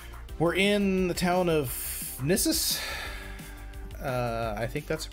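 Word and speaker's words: Gnisis: We're in the town of Nissus. I think that's how it's pronounced. Gnissus? I think the G is silent.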